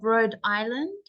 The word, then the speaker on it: Rhode Island: about the state of Rhode Island so take note the um the H is silent Road and S as